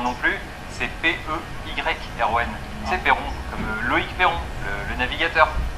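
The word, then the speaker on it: Peyron: parce que Kersozon, je sais pas comment ça s'écrit. Oui, bah Perron visiblement non plus, c'est P-E-Y-R-O-N. C'est Perron, comme Loïc Perron, le navigateur, Vendée Globe.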